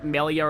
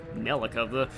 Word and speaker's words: Melia: Because Chugga likes Shulk and Melia, and I like Shulk and Fiora. Melika, that's a weird way to mispronounce that.